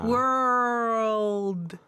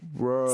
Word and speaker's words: world: 그래서 요거 연습하고 끝에 D 살짝 하는 거. world. 이렇게 world.